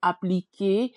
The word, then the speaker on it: appliquer: I did want to mention our verb here, appliquer, with the er Mm. that sounds like e.